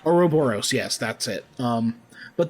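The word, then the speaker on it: ouroboros: how do you say that oroboros oroboros yes that's it um but the image the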